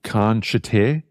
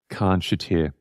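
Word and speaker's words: Khanshatyr: So if you look up The Vampires, and it's featuring Chris Abrahams, and the track is called Khan Shater, which is spelt K-H-A-N-S-H-A-T-Y-R. Khan Shater.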